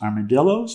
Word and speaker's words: armadillo: It's properly pronounced Dio, but I think in Texas they call it armadillo.